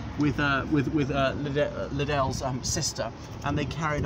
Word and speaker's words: Liddell: but the loop is pronounced liddell not little this former church now